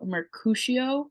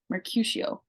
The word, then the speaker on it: Mercutio: Juliet the modern version he keeps calling Mercutio Mercutio with a like an ooh sound and every time I watch it it grates at my soul it's like who who did not come in and be like hey Leo it's Mercutio Mercutio because everybody else says it that way anyway yeah so we